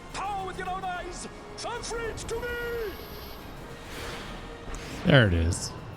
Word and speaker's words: Famfrit: Come, Famrin, revel in the glory of my triumph. You just said the name wrong. Hold on. It's Famfrit.